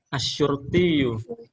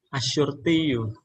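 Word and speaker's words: الشرطي: bahasa Arab itu adalah asuru asurtiu sama kalau misalnya gini kalau untuk apa namanya percakapan eh enggak usah dibaca akhirnya engak apa-apa asurti asurti untuk polisi wanita Polan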